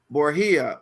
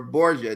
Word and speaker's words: Borgia: one right is cesar borgia or borgia depending on where you are they pronounce it then another one i